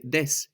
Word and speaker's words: das: And even in some dialects of German, you can hear des instead of das.